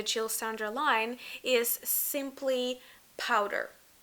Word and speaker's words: Poudre: Sander line, is Simply Powder. Am I saying it correctly? Yeah, Poudre. Poudre? So powder, basically, if you say it in English.